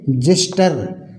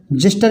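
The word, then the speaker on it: xyster: टीई आर एक्सवाई एस टीई आर इसको पढ़ेंगे जिस्टर जिस्टर मीस होता है खुरचन ठीक है इसी तरह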